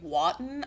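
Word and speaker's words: Wotton: a man named Lord Henry Waton I think is how you say his name it's like w t t o n Henry we'll just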